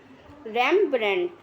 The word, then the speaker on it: Rembrandt: Pronunciation थोड़ा देख सकते हैं आप इसकी, रैम्ब्रेंट।